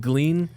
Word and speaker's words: Glean: but also sounds great glean rhymes with clean clean easy to spell